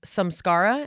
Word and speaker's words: samskara: And you talk about samskara. Am I pronouncing it correctly? That's right.